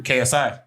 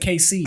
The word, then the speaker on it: KSI: KSI? KSI. KFC? I swear you and your KFC. I didn't say KFC. I said KC. Oh, my KC, bad. yeah. Yeah. Yeah, It's KSI.